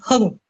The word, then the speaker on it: Hung: Actually, you can call me Hung. Hung. Okay. Hung. Hung. Yes, perfect. Hung.